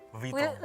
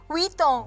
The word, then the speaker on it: Vuitton: Louis pakai E, Louis Vuitton. Vuitton. Pakai W, Vuitton gitu.